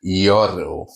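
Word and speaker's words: gyro: It looks like Gyoro, but I checked with my Greek friend. It's actually chicken Gyoro, and the R is supposed to be rolled.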